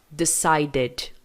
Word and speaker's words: decided: O ed vai ter som de ed. Aqui tá id, mas é porque na fonética do inglês, esse som aqui de i não é de i. É um som mais puxado pro e. Ed. Que é o som que a gente faz, inclusive, pra pronunciar, ó. Wanted. É esse edzinho aqui, ó. Opa, desculpa, coloquei 2 e's ali, não tinha visto. Aqui vai ficar assim, ó. Decided. started. Então, presta atenção nisso.